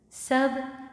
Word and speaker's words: सब: Sub would be easy because it's like just sub, sub, but sub in Hindi means everything. Sab hai with a little n sound at the end.